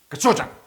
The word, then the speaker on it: gochujang: Actually, it's if you say it correctly, the way that Korean people say it, to me, it's really fast. It's like, Gochujang. I know. Chop, And chop, but trust chop. me, that's not how Korean folks say Probably it.